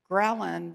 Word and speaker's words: ghrelin: But I'm writing a book right now, and I don't know if you know, but ghrelin rhymes with Ellen, but it's the hunger hormone, and it's the one thread that has in common for all treatments of obesity.